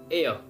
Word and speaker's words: heir: Next word हमारा एयर। आप इसे एयर पढ़ना। Okay, AIR एयर। आप इसे हेयर मत पढ़ना, HAIR हेयर, वो बाल वाला हेयर मत पढ़ना, इसे बोलेंगे एयर।